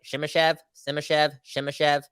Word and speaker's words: Simashev: At number 11, the Canucks this time around get the chance to draft Simashev. Did I say his name right? Simashev.